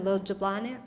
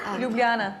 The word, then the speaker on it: Ljubljana: my oldest is 21 it was just in lilja blonde how do you say that ljubljana yes that's her guy he's been studying abroad